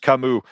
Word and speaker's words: Camus: Everybody's saying it's pronounced Kamu.